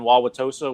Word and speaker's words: Wauwatosa: Louis and stuff with Brandon Biondo, and I'm also doing the one of the PBA youth events up in Wauwatosa, Wisconsin. That's how you pronounce it, Justin.